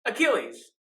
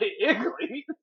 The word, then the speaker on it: Achilles: Achilles, not not Iglees. Iglees heel. Iglees sounds like some like children's It character. sounds like a delicious treat. It's definitely a frozen treat. So yeah, that's your dad's. Achilles heel.